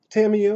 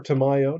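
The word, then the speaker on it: Tamiyo: for them from there tamio or Tamayo depending on how you want to pronounce it the moon sage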